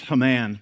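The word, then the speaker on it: Heman: There were three temple musicians: Jeduthun, Asaph, and I think it's pronounced Haman, but it always makes me think of He-Man.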